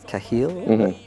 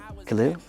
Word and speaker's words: Khalil: And in part because of that, the second verse, and then we have the voice of Kahil. Am I pronouncing? Khalil. Khalil, yep. Yeah.